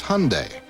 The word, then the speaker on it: Hyundai: It's Hyundai like Sunday.